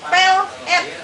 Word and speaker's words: pelet: Jadi pengucapannya juga itu harusnya berbeda. Kalau untuk pelet makanan kita harusnya bilangnya pelet. Pelet. Tapi kalau untuk yang semacam pengasihan itu untuk mengikat itu pelet sebetulnya. Yang benar tuh pelet.